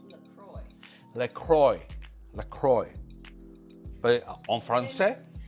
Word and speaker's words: LaCroix: Well, the soda is pronounced LaCroix.